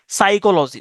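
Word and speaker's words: psychology: সাইকোলজিতেও প্রথম যে পিটা এটা উচ্চারণ হয় না।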